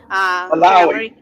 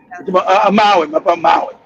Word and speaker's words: Maui: Looking at Maui, if I'm pronouncing it correctly, Maui, the fire we had, it was, I think, last year. Then this year we also had another hurricane. Malawi. Maui.